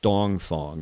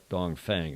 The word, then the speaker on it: Dongfang: And that's the proper pronunciation, is Dongfang, not Dongfang, I'm reliably informed.